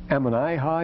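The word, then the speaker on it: Ammonihah: This would actually be Ammoniha, Ammoniha, if we were talking it in, telling it in English. Ammoniha, it couldn't be Ammoniha in any Semitic language, because the recessive accent doesn't go that far if you have double syllable, double consonant in between. So Ammoniha is good enough.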